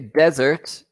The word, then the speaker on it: desert: Okay, desert is when it's with one S is like a place. Right? Place. Okay, so just be Yeah. careful with your pronunciation. And dessert, double S, Is sweet.